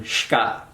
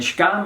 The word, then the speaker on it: xka: is just a stem shka. We spell it XKA, and the X is always pronounced sh, just like an SH in English. And shka means something like to toast or to, what's the right word?